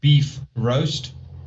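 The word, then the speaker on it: Bifröst: off to some magical place yes yes outspelt pronounced beef roast spelt like bifrost if you want to call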